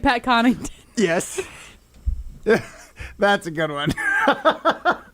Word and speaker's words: Connaughton: no G. It's Connaughton.